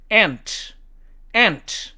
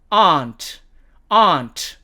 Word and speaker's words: aunt: 자, 이 네 번째 단어는 미국식 발음으로는 ant 이렇게 발음하고 영국식 발음으로는 aunt 이렇게 발음을 합니다.